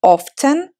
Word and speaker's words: often: бывает это слово Итак это слово можно произносить двумя способами often произнося букву В середине или произносить как я он то есть я эту букву Не произношу на днях в нашей